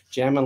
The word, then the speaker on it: Jamin: m instead of two now it's not jamming as in the proper spelling for jamming as j-a-m-m-i-n but the way we spell it is j-a-m-i-n get it right so